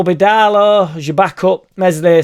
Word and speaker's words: Meslier: So the squad will be Darlow as your backup, Meslier, Silent S as your keeper.